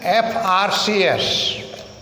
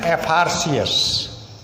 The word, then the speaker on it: FRCS: Master of Commerce, an FRCS, abbreviation FRCS stands for Fellow of Royal College of Surgeons. This begins with consonant letter but is pronounced with a vowel sound F-A. An FRCS.